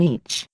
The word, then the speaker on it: Ea: They crossed into our world a long time ago under the Sumerian name Each. Pronounced Ea, Lord and King of the SA.